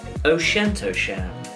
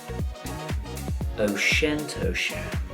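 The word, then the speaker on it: Auchentoshan: how to pronounce the 6 most difficult to pronounce Scottish distilleries in the known universe. O'Shentosham, O'Shentosham, Glass Cow, Glass Cow, Dial Oo Annie, Dial Oo Annie, T9 inch, T9 inch, Glen Saddam, Glen Saddam.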